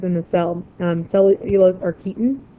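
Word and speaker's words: chitin: Cellulose or keton. That's kind of weird spelling for it, but it's pronounced keton.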